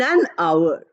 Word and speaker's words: hour: if you say wrong English meet me in an hour our we write with h o u r